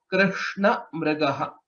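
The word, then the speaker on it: कृष्णमृगः: Krishna Mrigaha. That's how it is pronounced.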